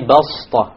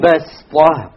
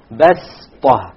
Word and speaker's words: بَسْطَ: say وَزَادَكُمْ فِي الْخَلْقِ بَسْطَ. بَسْطَ. Okay, so you don't pronounce it as a sad, you pronounce it as a seen, even though it is written as a sad.